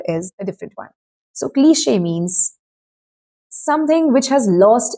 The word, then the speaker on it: cliché: It's not cleach or click or whatever. It's cliché, and the E you use in this particular word is a different one. So cliché means something which has